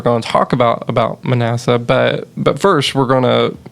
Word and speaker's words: Manasseh: a father and it was all about uh Manasseh is how you say it uh the king